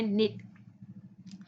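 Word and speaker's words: knit: क्या S silent है, इसमें निट, तो ये इसमें क्या है के साइलेंट है, इसमें रॉन्ग, इसमें क्या है डब्ल्यू साइलेंट है, इसमें डाउट, डाउट में क्या है डी साइलेंट है, ओके।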